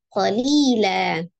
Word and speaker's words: قليلا: Jadi dibacanya menjadi fathah dua harakat ya. Jadi qalilan dibaca qalilan.